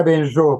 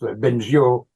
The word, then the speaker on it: Bengio: Tradicionalmente se decía Benjo, pero luego la edad moderna decíamos Benjo a la francesa, y en Madrid siempre le llamaban señor Bengio.